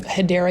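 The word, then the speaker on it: Hedera: the backstory is um when I first started saying um hadera Helix I was mispronouncing it as hedra Helix and it's kind of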